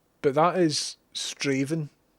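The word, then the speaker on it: Strathaven: Um, Straven, I would have stupidly pronounced it Strath Haven. Maybe shown my ignorance as someone from the northeast. Yes. So, this is one of these Scottish words. Straven. It looks like Strath Haven.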